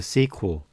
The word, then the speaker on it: SQL: standard let's call overview structured query language often pronounced the sequel the standard for relational